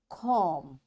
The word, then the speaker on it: comb: That's why this B is coming after M, this B will be silent. We will say comb, tomb, bomb, thumb, climb, and lamb.